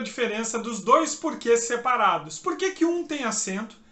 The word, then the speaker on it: por que: Se o porquê é a primeira palavra da sua pergunta, você não pronuncia esse que de forma tônica.